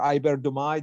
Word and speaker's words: iberdomide: The new cell modes, iberdomide, or iberdomide, if you prefer, I pronounce it the French way.